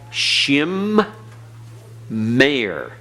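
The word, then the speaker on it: שמים: doubling doll doggish so this word will be pronounced shem mayor listen very carefully shem mayor notice the mane is pronounced twice it's pronounced at the close of the first syllable shem it's pronounced the beginning of the next syllable mayor how do I know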